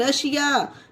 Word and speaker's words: Russia: जैसे कि ये देखिए RUSSIA रशिया, ये देखिए एस के बाद आईए आया, एस के बाद आईए हो, यही हमारा रूल है, तो इसे शा को वो एस को शा पढ़ा जा रहा है, रशिया।